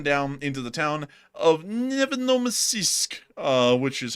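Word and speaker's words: Nevinnomyssk: So, moving us on down into the town of Nevenomysisk, which is how you pronounce that, actually.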